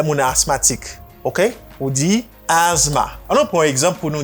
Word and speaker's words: asthma: TH là, pas prononcer. Est-ce qu'on comprend? On dit asthma. Mais ça pour connaître. S ça prononcé like a Z sound. You say as, and then you have short A sound. A. Asthma. Asthma.